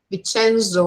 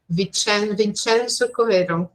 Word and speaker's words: Vincenzo: lot of pictures there vicenzo actually this is how we pronounce that Vincenzo so he looks at